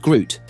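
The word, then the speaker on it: GR00T: At Nvidia's recent GTC 2025 conference, CEO Jensen Huang unveiled the Isaac GR0000TN1, pronounced Groot, the world's first open, fully customizable foundation model for generalized humanoid reasoning and skills.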